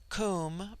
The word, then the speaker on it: Cum: immortal spirit, Vril-ya, immortality, Cum, pronounced like the Welsh cum, denotes something of hollowness.